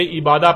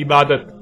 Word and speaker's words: عبادت: لکھا جاتا ہے عبادہ، اور جب عربی لہجے میں اس لفظ کو پڑھا جاتا ہے تو تیز ساکت ہو کر ہے کی آواز میں بدل جاتی ہے، یعنی اسے عبادہ پڑھا یا بولا جائے گا۔ عربی کا لفظ عبادہ جب اردو میں شامل ہوا تو اسے عربی کی بجائے اردو لہجے میں تے کے ساتھ بولا گیا اور بولا جاتا ہے، یعنی عبادت۔ اب آتے ہیں اس